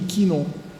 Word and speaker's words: Chinon: Escasse, sachant que le CH en vieux français se prononçait que. Parce que nous on prononce che, on voit que à chaque fois que dans Rashi il y a un mot comme ça, il ne prononce que. Par exemple, Chinon, la ville de Chinon, il dit Quinon.